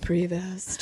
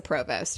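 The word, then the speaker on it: Prevost: tour bus is but I know you probably pronounce it something differently like previous or like Provost day or something but it's a Provost okay so um they're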